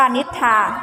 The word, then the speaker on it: นิทรา: ควบ กล้ำ แท้ เช่น นิทรา อ่าน ว่า นิทรา ไม่ ออก เสียง เป็น โซโล เทา เป็น พอ รอ ทาย นะ คะ ต่อ ไป